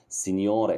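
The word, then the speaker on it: signore: سيد سنيور خدت بالك بص سين الجي ماتنطقش ها سنيور دي برض مفرد ايه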